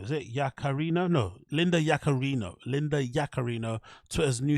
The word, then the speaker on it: Yaccarino: Linda Yaccarino, is it Yaccarino?